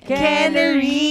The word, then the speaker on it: Quenery: Quenery! Feeling foreigner lang, pero wala talaga kami lahi. Quenery. Oo, parang kulay ng kanyang blouse. Quenery yellow.